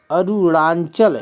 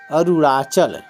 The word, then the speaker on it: अरुणाचल: अ रु ड़ा चल अरुणांचल यहां बिंदी नहीं होगी अरुणाचल अरुणांचल नहीं कहते अरुणाचल कहते अरुणाचल अरुणाचल अरुणाचल याद